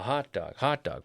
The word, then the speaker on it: hot dog: A hot dog, stressing the first half.